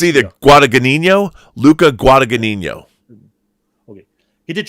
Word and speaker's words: Guadagnino: The director of Suspiria remake is Luca, and I have to look at his name to pronounce it correctly. Yeah, Luca Guadagnino. He did challenge us. It's either Guadagnino, Luca Guadagnino.